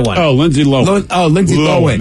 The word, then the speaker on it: Lohan: Lindsay Lohan. Is it Lohan? Lohan. Correct. It is Lohan.